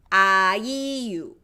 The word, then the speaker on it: 아이유: Okay, so 아이유. That'll be how it's pronounced and spelled in Korean.